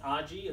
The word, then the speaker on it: Aji: get to this other stuff my name is aji it spelled AJ I and you say it